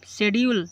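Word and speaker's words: schedule: इत्र okay शेड्यूल कार्यक्रम शेड्यूल देखो एस के बाद सी है इसलिए सी को साइलेंट कर दिया गया सी एच को साइलेंट कर दिया गया सी एच को साइलेंट कर दिया है।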